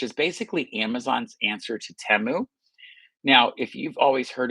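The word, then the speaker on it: Temu: So, it's Teu apparently.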